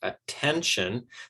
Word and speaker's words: attention: politician okay now attention okay attention that has three syllables and we're giving stress to the second syllable there same with electrician